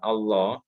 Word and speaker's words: Allah: itu, jadi kalau ada lafadz Allah itu namanya lafadz jalalah.